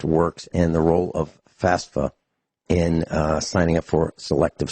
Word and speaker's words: FAFSA: will sign up for FAFSA that's how it's pronounced I don't know where